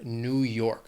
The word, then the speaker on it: New York: Then another very well-known state, New York. 2 syllables, stress is on that second syllable, that second word, New York.